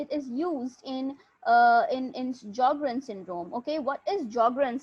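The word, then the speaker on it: Sjögren: in uh in in jogren's syndrome okay what is geogram syndrome the s is silent okay so it's it's called jogger and syndrome so in jogging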